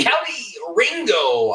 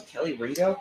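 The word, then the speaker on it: Kelee Ringo: verb I guess yeah that's where you can Kelly Ringo on the tackle oh what a football name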